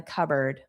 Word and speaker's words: cupboard: And then I think there are some chips in the cupboard. Notice the pronunciation. Cupboard. CBird. So, it does not look like these two words.